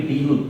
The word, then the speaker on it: du: e and e will change to du. It will be due due.